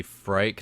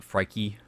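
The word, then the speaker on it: Phrike: I think it's supposed to be Frike, not Frikey, but people pronounce it a little bit differently.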